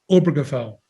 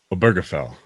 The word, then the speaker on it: Obergefell: The stress is on the O, not the burr. So it's Obergefell. Obergefell. Nope, you're stressing the burr.